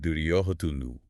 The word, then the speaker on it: Duryodhana: And right on cue, into the dark steps, the primary antagonist of the Mahabharata Duryodhana, pronounced Duryodhanu.